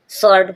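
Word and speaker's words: sword: जब W silent है स्वर्ड स्वर्ड means means तलवार एस डब्ल्यू ओ आर डी शॉर्ट सॉर्ट means तलवार डब्ल्यू के बाद जब ओ आया डब्ल्यू साइलेंट है डब्ल्यू आर ए पी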